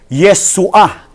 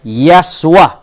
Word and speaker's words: Yeshua: Doon sa Hebrew, doon tayo mag-focus doon sa Yeshua. Mali po yung kanyang pronunciation Ang sabi niya, ano sabi niya? Ang sabi niya, Yaswa. Katunog ng miswa.